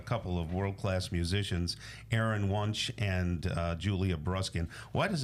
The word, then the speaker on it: Wunsch: of world-class musicians, Aaron Wunsch and Julia Bruskin. Why does it sound weird when I say Wunsch? Am I saying it properly? You're saying it correctly. Oh, so in German, it's Wunsch originally.